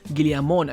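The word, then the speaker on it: Guillamón: Firstly is Hugo Guillamon, I believe is how you pronounce his name.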